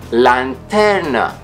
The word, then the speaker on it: lanternă: The most difficult vowels for foreigners to pronounce are a and ü, ü din i or ü din a. For example, lanternă, lanternă, flashlight. Început, început, beginning. Or mână, mână, hand.